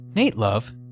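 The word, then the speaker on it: Nat Love: of the West Nate love spelled like Nat Turner but pronounced like Nate the Great was born into enslavement on June 14 1854.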